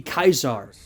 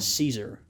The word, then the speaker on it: Caesar: you know Caesar would not be Caesar it would be kaizar which is by the way similar to the German monarchical title Kaiser right sort of an interesting thing there but in English we pronounce it Caesar suitable for someone of